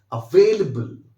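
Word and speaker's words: available: तो ध्यान रखिएगा, स्टार्टिंग का जो फर्स्ट वर्ड मैंने बनाया है, दिस इज अवेल, और दूसरे वर्ड को बिल्कुल लो कर देना है, बल, अवेलेबल।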